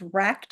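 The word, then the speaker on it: rekt: into the chat because it is spelled R-E-K-T, and that's the same thing where it's not really an abbreviation or an acronym, but it's being used instead of saying like W-R-E-C-K-E-D.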